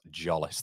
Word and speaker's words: Zolis: By the way, Zolis is pronounced Jollis.